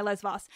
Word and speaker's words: Lesvos: didn't print didn't correct that you correct my Les Vos and you're not wrong but also you're a tiny bit wrong but I'm not I promise I'm not telling you you're wrong wrong so yes it's lesvos no question I know the island now is